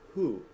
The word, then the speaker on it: who: از او هست اما باید شما اول H تلفظ کنید یعنی او نمیگه باید